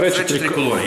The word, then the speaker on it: Frecce Tricolori: The Frecce Tricolori. I think that, did I say it right? Frecce Tricolori.